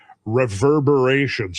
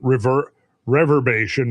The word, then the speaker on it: reverberation: repercussions of that or reverberations. I pronounce mispronounced reverberation in one of our previous uh I called it rever reverbation when it should have been reverberation.